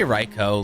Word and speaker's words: Raikou: Can't wait to have long neck Raikou. Or Raikou. I say Raikou like the Japanese pronunciation.